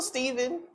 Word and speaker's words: Stephen: I don't love Steven. Why are you guys calling that man Stephen? Stephen? It has a PH. Stephen. It's still Steven.